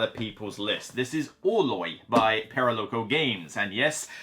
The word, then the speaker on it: Orloj: This is Oloy by Paralo Games. And yes, I have Googled it. This is how you pronounce the word. It's a Czech word for the Prague astronomical clock.